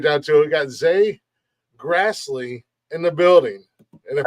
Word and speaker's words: Zay Grastley: let's get right down to it we got Z Grassley in the building and if I messed up